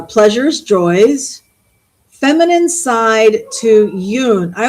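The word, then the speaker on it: Jung: Uh, pleasures, joys, feminine side to Yune. I I always pronounce that Yune. I had psychology 101 in high school and I was taught to say yun uh anima anime anima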